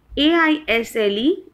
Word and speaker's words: aisle: The next pair is AISLE and ISLE, and the pronunciation is aisle.